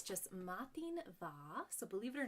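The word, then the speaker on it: madainn mhath: It's just matin va. So believe it or not, the way you pronounce that, matin va, the M and the H make a V sound.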